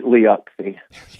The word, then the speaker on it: Liucci: Siri says your name. Liucci. Yeah. Oh, it bugs me. I feel like I want to train her how to say it correctly. Liucci. Yes, that's exactly right.